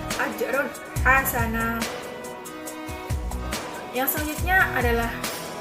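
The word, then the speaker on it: أجرا حسنا: Yang selanjutnya adalah ajron hasana, ada fathatin bertemu dengan ha, itu ha merupakan huruf dari idhar halqi yang mana dibacanya adalah jelas, yang dikeluarkan dari tenggorokan. Ajrun hasana.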